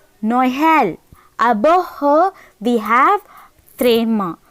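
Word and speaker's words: Noël: So, we have to separate No separately, Earl separately. So, it is Noel.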